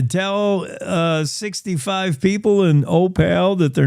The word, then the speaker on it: Opal: do you pronounce Opal? Uh tell me how you pronounce it. I've been told that you pronounce it O like the letter O and then pale like he's a pale of mine.